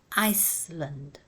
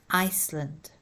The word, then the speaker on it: Iceland: The first S is silent, islands, but pronounce the last one, Iceland. It's a compound word, but you pronounce it as one word, Iceland.